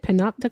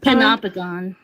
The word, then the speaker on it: panopticon: And you said peno how do you pronounce it? Panopticon. Panopagon.